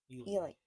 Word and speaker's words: Ely: I think it's pronounced Ely.